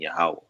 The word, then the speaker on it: Yahweh: the Most High and the pronunciation being Yahweh.